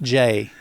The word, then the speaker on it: Gex: it's pronounced Jade folks that's his legal name but it's pronounced Jay gex but Bo well